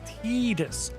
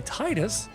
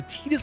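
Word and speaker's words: Tidus: The official pronunciation of Titus and 10 is Tedus confirmed by voice actor James Arnold Taylor and derived from the Okinawan word for sun ta. While many English speakers say Titus due to the water theme tide.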